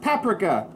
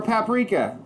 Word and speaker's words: paprika: little flavor one teaspoon of paprika or paprika however you want to say it six